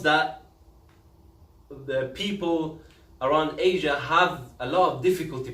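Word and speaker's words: ح: Ha is pronounced from the throat.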